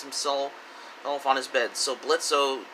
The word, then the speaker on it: Blitzo: So Blitzo, just because he addresses himself as Blitz, just because the O is silent, it keeps the charade